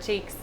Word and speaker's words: Cheiks: this entire piece oh this event is called cheek like butt cheeks like butt team it's spelled differently butts about CH e IKS so it's just a little bit of a play in the word make it a little